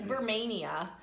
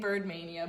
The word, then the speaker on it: Burmania: We believe it's Burmania. I almost was saying Birdmania, but it isn't.